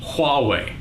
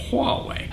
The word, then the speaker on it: Huawei: by motorola samsung LG hallway that's how you pronounce that huawei android is all about